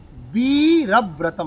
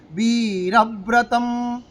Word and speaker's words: বীরব্রতম্: পরম সাধনং, পরম সাধনং নাম বীরব্রতম। আমরা বলি বীরা, রতে টান নেই, টানাবো কিসে? বীরব্রতম, বীরব্রতম, এগুলো দেখার আছে।